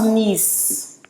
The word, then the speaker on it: niece: could be either a niece or it could be a nephew and this is pronounced nice like the the town is in france nice and then if you